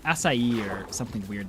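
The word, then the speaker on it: açaí: And for some reason, I don't know why, for some reason, I thought that was pronounced acacia. Um, and I have recently come to the understanding it's spelled it's pronounced asai.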